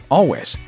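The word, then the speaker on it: Alvvays: Their name isn't quite as Transylvanian or complicated as it looks. It's simply Always. Oh no.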